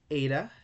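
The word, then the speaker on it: ήτα: Now, after zeta, we have eta. Eta is pronounced like A in they obey.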